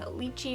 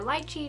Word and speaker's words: lychee: lip I have on, Pop Ultra Matte in Lychee or Lychee, depending on how you pronounce it.